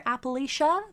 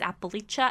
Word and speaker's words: Appalachia: I've heard people pronounce that differently. I personally prefer Appalachia, but apparently it's Appalachia.